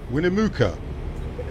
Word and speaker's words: Winnemucca: minute we're to mock out American say it then when America we don't want Luka no he's no Luka that was too simple William a look at Whitney mukha Winnemucca right now it's a silent w silent silent e silent CC Sweeney yeah